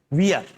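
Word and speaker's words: veer: अगली है वियर, वीर नहीं वियर, वियर। इसका जो प्रोनाउंसिएशन है वियर, वीर नहीं बोलेंगे, वियर।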